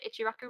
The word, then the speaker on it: Ichiraku: while you're there and you can get the ichiraku ramen is how you say it yes yeah